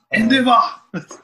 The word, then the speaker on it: Endeavor: Endeavor. That's how they say it in Japanese.